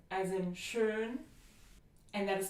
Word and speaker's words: schön: Now we have Ö as in schön, and that is spelled with an O umlaut as in schön, or an O umlaut plus an H as in Höhle.